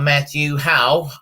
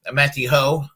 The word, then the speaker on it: Matthew Hoh: to talk about uh matthew howe um matthew ho um matthew ho that's how you pronounce his name he's uh a veteran